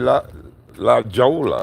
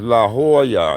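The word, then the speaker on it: La Jolla: I I used to call it Jolola. La Jolola. I But I knew I was saying it wrong. But I I always call it La Jola or some like that. But it's La Hoya, you say.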